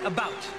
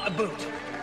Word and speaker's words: about: french not american and i pronounce it about not a boot i can proudly sow